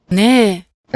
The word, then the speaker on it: ね: The final particle ne is marked with an accent to denote that the particle starts high and then goes low, ねえ、 as opposed to ね、 or some other ways of pronouncing it.